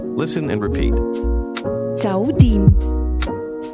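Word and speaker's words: 酒店: Hotel is pronounced with a combination of mid-rising and mid-level tones. Listen and repeat. 酒店。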